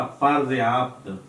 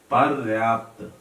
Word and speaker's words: पर्याप्त: पर्याप्त बोल देते हैं, पर्याप्त, प्रा से शुरू करते हैं बोलते हैं तो उच्चारण में, और वही लिख देते हैं, गलती हो जाती है। तो क्या होगा? पर्याप्त, पर्याप्त, उच्चारण शुद्ध, वर्तनी शुद्ध।